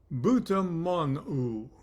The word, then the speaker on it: BUTMON: For example, the word bitmon, B-U-T-M-O-N, butmon, meaning mouth, would be pronounced butamonu.